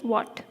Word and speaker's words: what: what is bought what try saying war and hot together quickly so then you'll get it right some people actually mispronounce